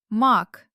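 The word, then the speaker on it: мак: Oh, in the last pair, mak is one flower, a hard finale, and maki means many flowers, and the letter ka in the middle instantly became soft because of the letter e at the end.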